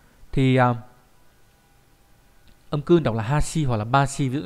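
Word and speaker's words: 橋: Thì âm cương đọc là Hashi hoặc là Bashi, ví dụ trong từ Hashi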